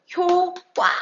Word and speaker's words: 효과: 보면은 q 가도 마찬가지입니다 발음을 할 때 우리 경상도를 효과와 안하고 반응을 하는데 이게 아니라 글자 그대로 효과 라고 발음을 해 줘야 한다는 거 아니죠 자아 이제